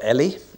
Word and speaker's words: Eli: relates to are Hannah Eli or Ellie as we should say and Saul or Saul